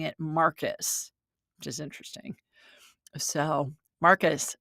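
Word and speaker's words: Marquis: M A R Q U I S, but the spirit is pronouncing it Marcus, which is interesting.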